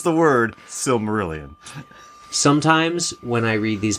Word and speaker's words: Silmarillion: help you with that yes please it is pronounced Sue Marillion can you use it in a set no I'm just kidding okay so Adam cannot pronounce the word silmarillion sometimes when I read these books I take